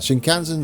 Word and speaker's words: Shinkansen: with the shinkans oh dear how do you pronounce that shinkansen zero series get you on yeah oh come